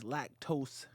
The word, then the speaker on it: LackToast: On YouTube, please Lactose ENT. Lactose. Ooh. Perfect. Yes. I'm sorry, Okay. lactose is LACKTOAST. People keep always spell it the correct way. Lack is my last name. Toast like the bread.